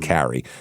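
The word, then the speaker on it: Keary: It's I want to say Kiri because that's how it's spelled, but it's pronounced Carrie. It's K E or K E A R Y. That's Carrie. E A looks like Kiri, but it's Carrie.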